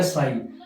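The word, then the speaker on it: psi: जैसे ये पी है तो इसको पसाई नहीं बोलेंगे, इसको बोलेंगे साई। पी क्या होता है यहाँ पे, साइलेंट।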